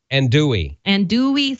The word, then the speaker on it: andouille: Andouille sausage. Okay. Andouille, yeah. The L's are silent.